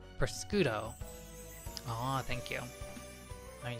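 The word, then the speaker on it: prosciutto: It's pronounced priscudo.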